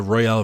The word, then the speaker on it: Royal: i had to do is in in the royale version and i know it's pronounced royal but i keep saying real because it's funny here and the royal version